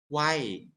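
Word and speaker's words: ไหว้: as the y okay we pronounce we pronounce why uh hi people they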